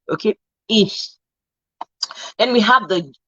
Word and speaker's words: ich: Okay, ich. It's like you're using the middle of your tongue. You're raising the middle of your tongue to touch your alveolar ridge. Okay, ich.